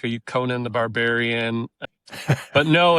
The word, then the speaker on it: Conant: Do you ever feel like people don't say the T? For the longest time, I thought that your name didn't have a T on it.